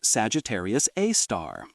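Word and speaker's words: Sagittarius A*: Sagittarius A star, pronounced Sagittarius A star.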